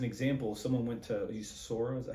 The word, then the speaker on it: Sora: so as an example someone went to you Sora is that how you pronounce it yes Sora Somebody went there and gave it was given